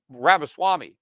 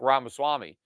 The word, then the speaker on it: Ramaswamy: off and I'm talking about Big Rob assault rabbit Swami I said mispronouncing uh his name Vivek ramaswamy uh but he obviously stood out on that